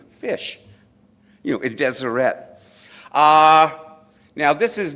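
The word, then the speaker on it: ghoti: It's pronounced fish. That's why the Deseret Alphabet was developed, because you have the GH, like enough, for fish. The I sound is in women, and the sh sound as in potion.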